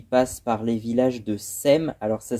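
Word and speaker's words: Sepmes: qu'elle s'appelle, qui passe par les villages de Sem. Alors, ça s'écrit Sepme, mais ça se prononce Sem.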